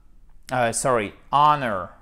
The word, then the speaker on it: honor: Ensuite, on a, honor. C'est la même chose, on ne prononce pas le H.